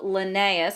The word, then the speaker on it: Linnaeus: can classify organisms so here's a picture of linnaeus that's how you pronounce it Linnaeus is famous for coming up